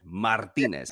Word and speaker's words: Martinez: Martinez.